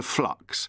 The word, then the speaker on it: flux: have become addicted to flux. Flux is a good word. You have to be very careful to pronounce the L, otherwise Keith's tally of